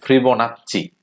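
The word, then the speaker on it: Fibonacci: তো যেহেতু বলা হচ্ছে এখানে একটা বিষয় হচ্ছে ফিবোনাচ্চি, বা আপনারা হচ্ছে একে ফিবোনাক্কিও বলতে পারেন।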